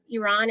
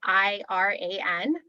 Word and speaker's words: Iran: look on a map iran is spelled i-r-a-n and you would expect it's iran but it's really iran so that's an easy